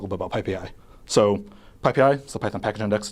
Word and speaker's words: PyPI: let's let's talk a bit about PPI so ppi is the python package index it's pronounced PPI um it's the default source of